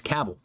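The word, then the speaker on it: Cabell: I never knew how to pronounce the county that's home to, uh, to Huntington, but it's Cabbell, uh, county, and I'm not surprised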